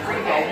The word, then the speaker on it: BRIBOW: Rebo.